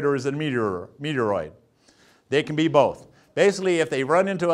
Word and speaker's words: meteoroid: goes well it's easy meteoroid rhymes with asteroid all right so those